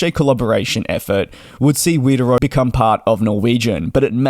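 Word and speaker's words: Widerøe: I actually had to look at a pronunciation site, and the local pronunciation was not something I could do, so apparently Wideroe is how you say it in the USA English, so hopefully you understand what I am meaning.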